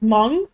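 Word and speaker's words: Hmong: honest it's not very for normal uh he's M which is which is spelled h m o n g um kind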